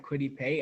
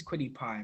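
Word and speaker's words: Kwity Paye: I told Jack I had Quiddy Pay, and he said, "Dude, his name is Quiddy Pie. Make sure you say it right."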